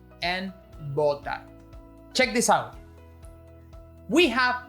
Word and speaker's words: botar: Again, it's a very Latin American thing to pronounce both words identically, but the right pronunciation should stress the type of B you're using. Votar and botar.